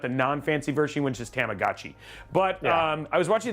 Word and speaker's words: Tamagotchi: Like, and sorry, I mispronounced it. It's Tamagotchi. Sorry. Tamagotchi. So, not Tamaguchi, which I love Tamaguchi.